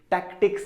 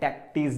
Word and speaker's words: tactics: टैक्टिक्स है, टैक्टीज नहीं है, टैक्टिक्स, राइट। तो प्रोनाउंसिएशन पे भी ध्यान देना, टैक्टिक्स है, राइट।